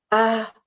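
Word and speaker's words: אהבה: So let's say ahava together, slowly, every syllable. Ah-ha-va. And then breathe in, and then breathe out again with the same word.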